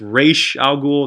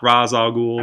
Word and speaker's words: Ra's al Ghul: everything together in Ra's al Ghul hi they pronounce it incorrectly in the movie and that's a big pet peeve of mine its racial ghoul not Ra's al Ghul and even make the joke in Batman Beyond